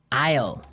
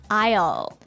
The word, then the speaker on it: aisle: Aisle. Aisle. A-I-S-L-E. Aisle. Aisle. It's a tricky word. It sounds like the contraction of I will.